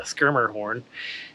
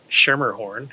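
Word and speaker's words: Schermerhorn: Trisha earwood in Nashville is called the skir Horn uh not the shmer horn as I said countless times and apparently this state's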